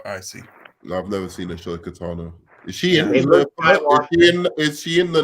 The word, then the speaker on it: Ahsoka Tano: It's Ahsoka Tano. It's not Ashoka. Ahsoka Tano. I don't know her, so I'm gonna abstain from the vote. Well, again, just look how it's spelled. It's not ASH. It's AHS.